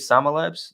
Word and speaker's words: SAMA Labs: joined by john how do you say it sama labs that right yep that's it okay yeah uh